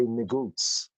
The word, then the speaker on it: negus: In Ge'ez, it would be pronounced as negouche. In Amharic, we'll say negus, negus.